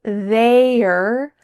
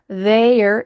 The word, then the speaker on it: they're: This is a contraction of they plus are. But she doesn't say they're. There. This is the clear pronunciation for this contraction. In fast conversations, native speakers are just going to say there, there. It kind of sounds like look over there.